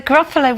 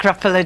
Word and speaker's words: Gruffalo: There's no such thing as Oh, so it had to be 3 syllables. Grrr, that's kind of fierce. And I think Gruffalo just sprang to mind because it rhymes with buffalo, I suppose.